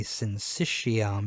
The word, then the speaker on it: syncytium: muscle cells and they're going to form a synthetium is how to pronounce that word a syncytium is a collection